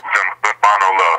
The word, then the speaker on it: Zumbano Love: Zumbano Love, yes.